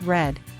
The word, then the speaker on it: read: read as an example in the present it's pronounced read but in the past it's pronounced red let's go ahead now